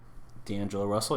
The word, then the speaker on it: D'Angelo Russell: D'Angelo Russell, yeah.